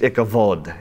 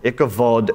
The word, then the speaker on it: Ichabod: in your Bibles there Ichabod in Hebrews pronounced the B is pronounced like a V it's Ichabod ichavod means Inglorious or without